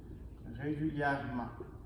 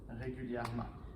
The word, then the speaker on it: régulièrement: faire notre adverbe régulière et on ajoute la marque régulièrement régulièrement et on ne prononce pas les haies facile thermique par la